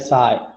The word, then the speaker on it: psi: Okay, PSI साई. Okay, P constant रहता है pronounce करते समय साई.